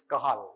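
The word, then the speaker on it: Cajal: spelled as C but it's spelled as J they pronounce as H so similarly is kahal it's not kaj okay kahal so cell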